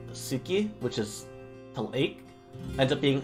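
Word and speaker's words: 好き: u sound gets dropped and like words like suki which is ends up being ski where the the u sound also gets trapped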